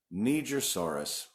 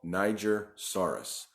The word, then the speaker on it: Nigersaurus: Interestingly enough, I see different pronunciations all the time. I hear Nigersaurus, but it was discovered in Niger, and people say it should be pronounced Nigersaurus, but the gentleman that actually named it pronounces it Nigersaurus.